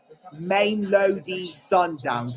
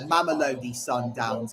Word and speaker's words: Mamelodi Sundowns: There's Cesar Montes, the Mexico captain, and there is Ronwen Williams of Mamelodi Sundowns, or Mamelodi Sundowns. I think in the South African way, that's how you pronounce it.